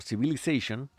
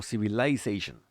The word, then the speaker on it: civilization: Mientras que en América lo van a escuchar como civilization, en británico lo van a escuchar como civilization. ¿Ok? Civilization. Van a encontrar la diferencia fonética en esta sílaba en particular.